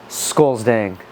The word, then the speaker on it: Scolesdang: Scolesdang. Scolesdang.